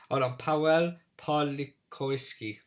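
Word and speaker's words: Paweł Pawlikowski: Do you want me to pronounce it? Powell Pawliszkowski. Close. Yeah, I think that's probably better than mine. I've gone Powell Pawlikowski.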